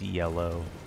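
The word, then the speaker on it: Yelough: got the time yeah that weird spelling with the Y that's pronounced yellow took me a a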